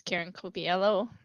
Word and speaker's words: Karen Cobiello: I think I said Karen's name wrong. It's Karen Cobiello, and she's chair of the board.